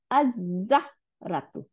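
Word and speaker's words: الزهرة: বানাই দিচ্ছে, হ্যাঁ, যার জন্য আমরা লাম আর উচ্চারণই করি না, কি করি? আজ-জাহা, আজ-জাহরাতু, আজ-জাহরাতু, জাহরাতু মানে ফুল, আজ-জাহরাতু।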